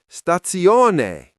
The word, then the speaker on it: stazione: No, Liam, stazione. Say it like this, stazione.